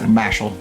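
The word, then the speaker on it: Mashle: How do you say that? Mashal. Mashal? Yeah, it's like Japanese of saying muscle.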